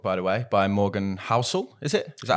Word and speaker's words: Housel: It's a great book, by the way, by Morgan Housel. Is it? Is that how you say it? Yeah. Housel.